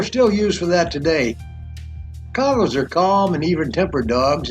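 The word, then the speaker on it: Kangal: No, I said Congo, not Congo.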